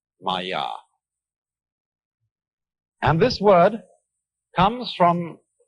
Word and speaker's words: Maya: I'm going to write that down for you pronounce Maya and this word comes from a root in